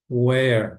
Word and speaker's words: where: Where, lembrem-se que não é pronunciado o último é aqui.